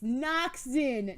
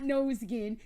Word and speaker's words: Noxen: It's Noxen, not Nosegin. It's Noxen. So when I watched Noxen play Grave Prosperity, he was talking.